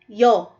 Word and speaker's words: ㅕ: So sa English may katumba siya na ganito. Y o yo.